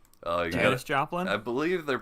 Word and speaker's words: Joplin: I watched the documentary about the tornadoes that happened in 2011 in Joplain. Oh yeah, Joplin. I believe they're pronounced tornaders around there around those parts.